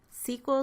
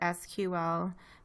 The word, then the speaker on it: SQL: do manipulation in sequel sequel stands for structured query language some people pronounce that SQL but both pronunciations are acceptable we're going to be